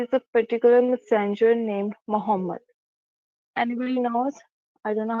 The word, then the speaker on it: Muhammad: Um there is uh there is a particular messenger named Muhammad. Anybody knows? I don't know how to pronounce his name. Muhammad.